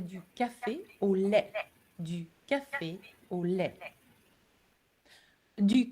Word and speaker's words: lait: Du lait. Have a look at the spelling. I know it ends with a T, but we don't pronounce the T.